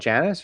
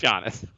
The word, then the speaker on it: Giannis: of KP is it is it Janice or is it Giannis well we're in America Jay it's jannis um is is it's